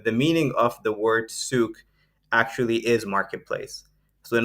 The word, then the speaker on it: Souqh: we put out on social uh spelled s-o-u-q-h pronounced souk but the origin of the name and how